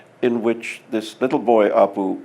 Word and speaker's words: Appu: which this little boy Appu which if you pronounce him correctly in Bengali is Oh poo in the way that